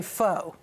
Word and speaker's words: pho: Well, you know, nobody has an excuse anymore to say pho. You've got to know now that it's pho.